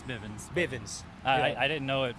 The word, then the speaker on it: Bivens: It's kind of like Miss Bevins in there. Yeah. Bivens. Yeah. Bivens. I always say the name wrong. I'm not very good at English. It's Bivens.